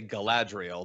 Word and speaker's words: Galadriel: ahead john well i'll i would say galadriel but that's not how the elves would pronounce it galadriel i'm gonna pronounce it